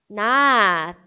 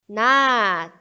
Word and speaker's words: 낫: As demais letras, quando estão sozinhas, como patim, têm som de T mudo. O som é simples e curto, como se nem tivesse sido pronunciado.